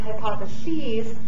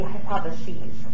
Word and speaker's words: hypotheses: is a hypothesis now this would be pronounced hypotheses with an E right here if it's plural so talk about more than one hypothesis it would be hypotheses that's why I say it a little bit different so a hypothesis is